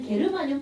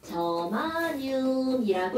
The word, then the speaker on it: 저마늄: 너네 다 바뀌어가지고 그래서 이것도 옛날에는 게르마늄 팔찌 뭐 이런게 있단 말이야 근데 그렇게 읽으면 안 되고요 얘는 저마늄이라고 읽어줍니다 나라 이름이 원소이름에 들어가는